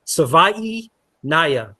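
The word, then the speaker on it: Savaiinaea: I think it's Savai Naya, but someone can tell me if I'm right. David Fronis says I'm right. Savai like Hawaii.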